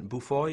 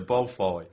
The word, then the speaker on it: Beaufoy: I don't know that when you initially read Simon Beaufoy, is that how you pronounce his name?